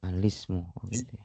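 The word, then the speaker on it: الاسم: Nah, jadi ini dibacanya ya alismu ya, bukan alismu ya. Alismu hamzahnya sekali lagi hamzahnya tidak di baca ya. Oh. Jadi bukan al is bukan al ismu tapi alismu langsung lamnya di kasrahkan.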